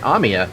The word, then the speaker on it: Amiya: Why am I saying that name wrong all of a sudden? No, I'm saying it right. Amiya.